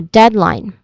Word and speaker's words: deadline: Okay, you pronounce this as two syllables. First is dead with a short e sound and then line with a dip thong sound. I there's a I dip thong here. So I line so deadline for the stressed syllable is on dead or the first syllable deadline.